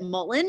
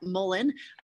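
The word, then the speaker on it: mullein: So I call it mullen. You can practice saying that, mullen. I meant to write how it's spelled, M-U-L-L-E-I-N.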